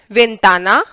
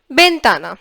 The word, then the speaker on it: ventana: The sound of V is basically B or B or V, both are fine, in different parts of Spanish speaking countries both are acceptable. They are pronounced differently, so I think V, B, both are fine. So I can call it this word ventana or ventana. That's also just fine.